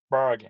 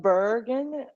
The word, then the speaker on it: bargain: Bargain. Not bergen. It's like an R like bar.